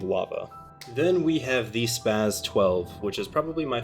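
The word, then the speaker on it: SPAS: zombies or just because spaz S P A S is pronounced as spaz S sp a z.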